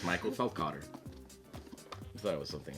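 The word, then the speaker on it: Feldkötter: our review of via apia very well said pronounce the dude's name Fel Cotter what it's Michael Fel Cotter you thought it was something else didn't you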